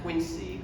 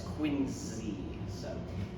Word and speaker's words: Quincy: And also of note, Quincy is pronounced both, even with the president's middle name, and the city's pronounced like with a Z sound, like zipper or zoo, not Quincy.